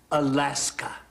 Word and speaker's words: Alaska: people on the peninsula have a word Ali esca meaning the great land we will pronounce it Alaska the treaty was signed